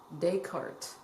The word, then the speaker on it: Descartes: That's how you say it, Descartes.